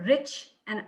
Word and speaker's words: Richa: say it right yeah it's like rich poor rich and ah richa richa i like that